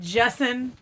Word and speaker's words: Justin: Justin. You got to say it like that.